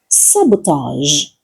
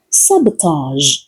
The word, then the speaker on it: sabotage: sabotage Listen again. sabotage The final sound is similar to the sound at the end of words like garage in many pronunciations.